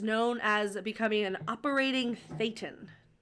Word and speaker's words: Thetan: Um, but it's spelled t h e t a n. So, I would say Thetan.